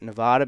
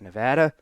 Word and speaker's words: Nevada: Now, I pronounce it Nevada because I'm from the East Coast, but out of respect for the people that are from there, I will call it Nevada.